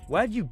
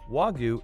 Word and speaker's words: Wagyu: Wagyu beef is more than just a Japanese cow. It is a specific breed of cattle with unique genetic qualities. Mispronouncing the word Wagyu instead of Wagyu adds to the confusion surrounding this high-end delicacy.